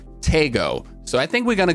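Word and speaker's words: Taego: get the new map tygo or as pubg now pronounce it tago so i think we're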